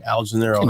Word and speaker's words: Algenelerro: Oh man, you know my Instagram is my first name, Algenelerro. ALG. I'm about to spell it.